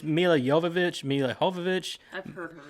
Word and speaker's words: Mila Jovovich: They pronounce it all. It's Mila Jovovich.